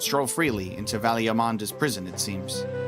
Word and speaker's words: Valigarmanda: One does not stroll freely into Valigarmanda's prison, it seems. It is a hard G. Valigarmanda, so I was correct the first time?